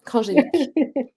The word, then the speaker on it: Kranjcevic: Alors, j'avais à cœur de vous présenter Krajewicz. Je le prononce bien? Ouais, très bien, Kranjevich.